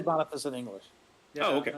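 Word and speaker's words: Boniface: guessing anyways um who but we do say bonfice in English yeah okay I was about to say bonfice is the correct pronunciation so yeah so when when Bon returns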